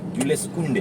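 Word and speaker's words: Jules Koundé: Itu bacanya Jules Kounde.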